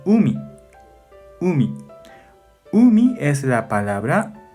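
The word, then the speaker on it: 海: Onyomi pronuncia kai. Kai. Kunyomi pronuncia umi.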